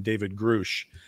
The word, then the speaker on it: Grusch: I do hear a lot of people calling him David Grusch. Grusch. And it's spelled G-R-U-S-C-H, not G-R-U-S-H. So now you know. David Grusch. Yeah. And it rhymes with Brush with a G.